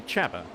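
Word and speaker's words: Csaba: It's actually Chaba, not Saba, as I've been calling him.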